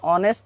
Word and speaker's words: honest: Here H is silent, so I use N. An honest man, not honest man.